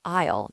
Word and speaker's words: aisle: Aisle is spelled A-I-S-L-E, but the A and the S are completely silent. It sounds exactly like I will, but it means the long walking space between the shelves in a supermarket.